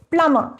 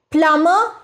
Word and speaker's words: plumber: Interviewer, and just one more word, p l u m b e r? Tharoor, plumber. Interviewer, plumber and not plumber?